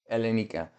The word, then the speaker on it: Elenika: Elinaka. I'm guessing that's how you say it. You pronounce it. Elenika. The emphasis is on the ka, so not quite right.